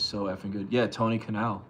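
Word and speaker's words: Kinal: effing good yeah Tony Canal I think that's how he pronounce his name k i n a l he's amazing super underrated the No Doubt Bas player yeah Tony Canal is his name yes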